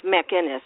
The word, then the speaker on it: McInnes: And Jacqueline McInnes Wood, and I hope I say her name correctly because I'm not quite sure. It's McInnes, right? McInnes, yes.